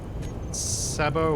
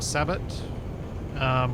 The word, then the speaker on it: sabot: The ammo for the railgun is Sabo or Sabot, which requires uranium, which is why I can now actually make them. I've always pronounced it Sabo, but I've heard people say it other ways. I would say Sabo.